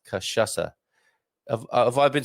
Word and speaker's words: cachaça: And the pronunciation guide here, Donna Mogardo McLaughlin, says cachaça.